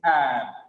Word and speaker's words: abstract: But in the second case, abstracts, the becomes here ab because it has got the stress. It is not up here, it is ab. Abstract. Because just because of the stress, the same letters AB gets different sounds. When it has got the stress, it is ab. When there is no stress on AB, it is up.